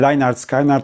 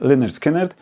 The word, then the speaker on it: Lynyrd Skynyrd: Does everyone know how to pronounce them? If not, no worries. I didn't know either, and Lajnard Skajnard and Uriah Hip seemed perfectly reasonable to me. But no. The first name is pronounced Lynyrd Skynyrd.